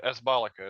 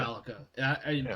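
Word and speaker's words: Kasballica: So I'm gonna, and my understanding is the K is not. It sounded like you pronounced the K silently, and it's my understanding the K isn't silent.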